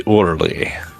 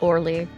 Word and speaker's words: Orly: There is airport Charles de Gaul and the airport de Orley de or I don't know. I'm not French and I'm terrible at pronouncing it. It's just Orly.